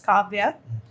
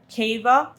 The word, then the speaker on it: Kavya: just first say how it is pronounced and then you can talk about So my name is actually pronounced as Kavya. And I have heard Kava, then Kaiva, and Kavya.